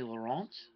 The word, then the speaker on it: Laurent: You have Melanie Laurent from Room of Death. She is French, so I had to say it like that.